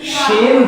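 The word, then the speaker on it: ش: Pada ayat ketiga di atas ada huruf yang hampir sama pelafalannya, yaitu huruf shin dan sin. Nah, bagaimana cara menyebut shin? Shin. Ah, sin.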